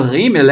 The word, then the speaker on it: Gimel: Gimel ou Rimel é a mesma consoante, né? Muda, como eu falei, muda a pronúncia, tá?